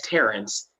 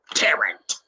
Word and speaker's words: Terence: opportunity to finally say my name as Terence and not Tarrant Terrence this is so